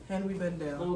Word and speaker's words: Henri Bendel: But that's how you say it's Henri. Henri Bendel.